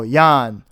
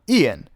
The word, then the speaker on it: Ian: coworker asked me wait how do you say your name and again I told him Ian and he said something like oh that's what we thought we heard her calling you Yan so from then on